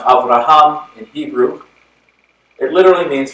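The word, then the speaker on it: אברהם: tradition the Abrahamic faith traditions Oh Abraham is pronounced Avraham and Hebrew it literally means father of many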